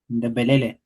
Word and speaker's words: Thembelani: Uh Thembelani Bholi, could you assist us in in in pronouncing this name correctly, please? Uh Thembelani.